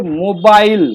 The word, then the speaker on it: mobile: মোবাইল নয়, কথাটা হচ্ছে মোবাইল, মোবাইল, মোবাইল, মু নয়, মো।